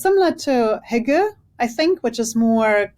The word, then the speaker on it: hygge: Okay, well, so it's a German word, and you pronounce it Gemütlichkeit. And it's kind of like, it's similar to Hygge, I think, which is more well known internationally.